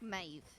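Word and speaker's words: Meadhbh: together and said that that's that's how you pronounce five it's like maeve you ever seen how mavis actually spell it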